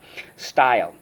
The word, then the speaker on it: style: because in this case the silent e makes the y say i yes that's true and